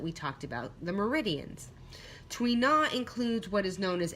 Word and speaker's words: Tui na: traditional Chinese medicine massage technique called tween ah okay it's spelled tu I and a tweet na now it literally means